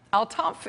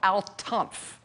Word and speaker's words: Al-Tanf: Again, it's called Al-Tanf. I think that's how you say it, T-A-N-F.